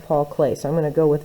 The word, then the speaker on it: Klee: here so paul clay a lot of people say think it's pronounced paul clee and i'm not sure but i think it's pronounced paul clay so i'm gonna go